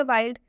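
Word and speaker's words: wild: वाइल्ड में भी आई है और आई के बाद से एल डी आया है। वाइल्ड में आई के बाद से एल डी आया है, इसलिए इस वाइल्ड का उच्चारण आई से हुआ है।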